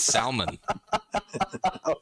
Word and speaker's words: salmon: it with her chest it's salmon why is that l in there oh man be like